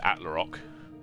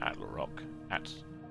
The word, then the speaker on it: Attlerock: I almost said Atlarock. That'd be the same. Attlerock.